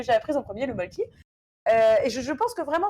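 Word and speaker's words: Mölkky: Alors oui, je sais, c'est censé se prononcer un Molku ou quelque chose comme ça, mais bon, je ne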